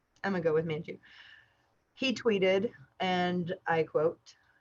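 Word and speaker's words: Manjoo: i pronounced that correct it's m-a-n like man and then j-o-o jew manju i'mma go with manchu he tweeted and i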